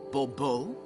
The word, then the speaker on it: Bobo: fine Monsieur de bubo the emphasis falls on the last syllable Bobo mm-hmm see now I'd